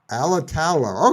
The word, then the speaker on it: Alatalo: Emily's last name alalo alatalo okay just like it looks okay okay all right